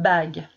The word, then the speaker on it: bague: pas dire bas qu il ne faudra pas dire bagul eu une se prononcera en fait le il est là pour aider la leggia à prononcer google c'est bizarre mais c'est comme ça bye alors maintenant si